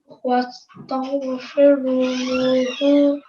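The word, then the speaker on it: واستغفره: Now, when we're pausing, this ha, because it has a dhamma, this will change into a sukoon. Okay, this dhamma will change into a sukoon, so our pronunciation will be wastaghfiruh. Wastaghfiruhu. Good, well done. So a slight h sound at the end.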